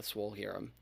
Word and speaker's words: Swolhirrim: check out apple podcast spotify all with the swole hero i said it right that time swole here the swole hero we are swole and rohirum the swole hero alright guys bye